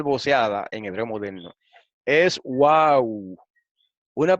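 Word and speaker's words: וו: En resumen, la tradición de pronunciar esa letra como wow es históricamente más exacta y así se encuentra en muchas gramáticas del hebreo bíblico incluyendo la de Thomas Lambdin. La convención de pronunciarla como vav es también aceptable, pero esa pronunciación procede del periodo moderno, lo que estábamos diciendo, ¿ven?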